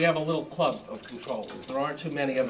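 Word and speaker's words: comptroller: with money and it's controller com controller or whatever it is and it's it's from the French and that's how the comp comes in even though you don't pronounce the P all the time I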